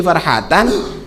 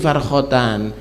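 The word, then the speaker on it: فرحتان: Keliru, salat ada titiknya, ada di situ, tapi titik liar, bukan karena lis-shaimi farhatan, dia bacanya lis-shaimi farkhatan.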